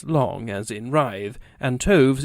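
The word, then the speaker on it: toves: as in Wrath and tovs is pronounced as to rhyme with Groves again the first o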